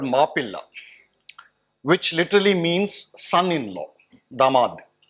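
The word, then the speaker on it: Mappila: So who are the Moplas, or who were the Moplas? The term Mopla is actually an English corruption, mispronunciation, or rather a English pronunciation of a Malayalam term called Mapilla, which literally means son-in-law, damad.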